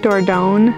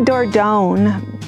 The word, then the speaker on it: Dordogne: But there's no like hard G in French.